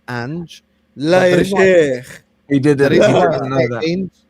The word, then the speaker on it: Ange: By the way, just so everyone knows, I realized that it's not actually pronounced Ainge, it's pronounced Ange.